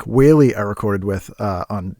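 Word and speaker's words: Whaley: that episode comes out Frank Wall-E I called him w-e it's wh I did this in the episode too oh my God I'm such an idiot uh I mispronounce things Frank whey I recorded with uh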